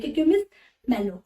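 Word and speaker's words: Cucumis melo: तो कुकुमिस मेलो, ठीक है, बट इसका जो प्रोनाउंसिएशन है, the correct pronunciation is that the क्यूक्यूमिस मेलो। ओके, बट अगर आपको याद करना है then you कैन say that is द कुकुमिस मेलो।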